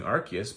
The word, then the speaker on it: Arceus: My wife and my daughter have been playing Pokemon Arceus, which is how it's pronounced in Japanese, and I like that because you get to say Arce every time you say it.